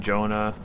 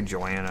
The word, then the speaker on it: Joana: it's always right there how to pronounce my name well you can say any way you want I just been saying Jonah doesn't really matter you can say Joanna I don't care actually got I got